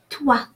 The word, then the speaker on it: toi: And toi, O-I is pronounced wa, is a rule of pronunciation. O-I, wa, so toi.